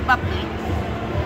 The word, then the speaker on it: Boepple: Yeah, it looks like Boepple, right? Yeah. Yeah. No, it's Buckley.